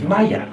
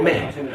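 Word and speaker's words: مية: In Egypt, one of the key words for water is Maya. It is not pronounced the same way in any other Arabic country. If you went to Saudi Arabia, they would say Ma or Meh. Only in Egypt is it pronounced Maya.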